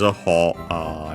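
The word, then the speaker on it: 歩: But yeah, nowadays ho instead of po. Po is the original pronunciation, as we have said before.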